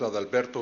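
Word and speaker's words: Adalberto: My name is Alberto. First name is spelled A D A L B E R T O.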